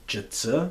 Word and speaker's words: Zhi Zi: we put them with one more function called jitsu that is spelled Zhi Zi and well that's a formula